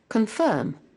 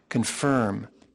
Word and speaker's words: confirm: Confirm. Okay, confirm. Firm, only without curling your tongue. This is UK British pronunciation. And US Confirm. Confirm. So you curl your tongue to make confirm.